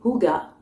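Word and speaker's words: hygge: livre du H du hijge je sais jamais comment on dit ah ouais non en fait c'est noté ici prononcé Hugga donc je lirai peut-être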